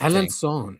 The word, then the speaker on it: Alençon: This was in Europe in a city called Alençon, I think. Alençon. Yeah, Alençon, because it has an accent on the C.